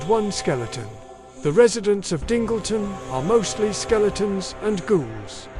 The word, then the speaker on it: Dingleton: Our story begins in the small village of Dingleton, which is pronounced Dingleton, not Dongleton, and is surrounded by bleak moors and stormy seas and even bleeer prospects.